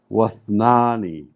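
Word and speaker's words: واثنان: Don't have to say that one. Yes. Join Wad. straight from waw to tha. Wath. Wath. Wathnani.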